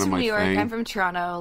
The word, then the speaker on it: Toronto: Do you do like CHRAWNNA for your pronunciation? I live in Toronto. I live in Toronto. Oh, Toronto? Yeah, that's a hard T.